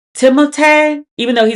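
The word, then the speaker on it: Timothée: Timote. Even though he said people didn't call him Timothy, but his father is French, so technically his name is pronounced like Timotee, not Timothy.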